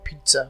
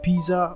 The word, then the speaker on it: pizza: also popular in English even though there are two z and the word pizza the first letter said taken as T when you pronounce the word pizza the reason being Italian origin of the word pizza which was later adopted into English could often the swatters pronounces Pisa or Pisa which is incorrect form of pronunciation of this word the next word on